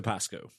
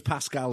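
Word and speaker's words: Pascow: Victor Pasco. Victor Pasco. Ah, Pasco. That makes more sense now. Um I had him as Pascal in my notes and it wasn't until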